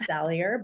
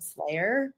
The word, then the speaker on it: Salier: It's Salier, but I've been called Slayer many times over, and now a lot of my friends actually call me the Slayer.